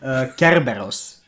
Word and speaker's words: Kerberos: So, it's pronounced, in my good Greek accent, Kerberos.